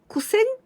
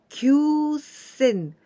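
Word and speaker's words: 九千: this is number nine we can pronounce ku or q but do you imagine which one we say kusen or kyusen well nine thousand we say q sen we don't use ku because we didn't use shi so here we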